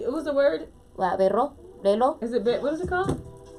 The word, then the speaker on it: reloj: say the word watch, he teaches her how to roll her R's. Like reloj. So if you could say like reloj. What did you say? What was the word? Reloj.